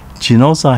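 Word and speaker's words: Ginoza: southeastern part of nago kinoza pronounced chinuza has more than 50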